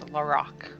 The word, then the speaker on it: Larock: It is Larock. No A at the end. I want it to have an A, but it does not.